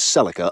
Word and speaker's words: Celica: The break lines of Conniey's Celica apparently cut. Oh, that's why it's called that and that's how it's pronounced. I thought it was like sciatica or Cecilia.